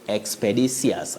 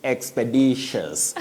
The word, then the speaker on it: expeditious: know whether we say expedicious. And don't laugh Betty. Don't laugh. Okay. Well, okay. Expedicious. Not expedicious. You say expeditious.